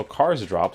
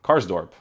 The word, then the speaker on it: Karsdorp: back for roma so cars drop let's see if he has i'm already pronouncing his name wrong cars drop has or cars dorp karsdorp i thought it was drop cars dorp wow um yeah so